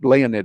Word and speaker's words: Leonid: Leonid is, by the way, how they pronounce it in Russia.